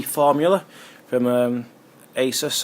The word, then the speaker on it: Asus: V formula from um Asus or azus as I've heard some people pronounce it uh Republican gamers of course